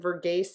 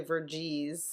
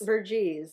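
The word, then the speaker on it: Verghese: this big um by Abraham last week I pronounced it vergi it's actually veres veres yeah v r g h s e yeah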